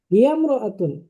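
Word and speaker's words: هي امرأة: আমি আবার বলছি, ইমরাতুন, এই ইমরাতুন শব্দের আগে অন্য শব্দ হলে আলিফটি শুধু লেখায় আসে, উচ্চারণে আসে না।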